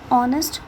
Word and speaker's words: honest: For example, an honest man. Here H is silent and we produce honest man, that is there is the sound of vowel, so we use an.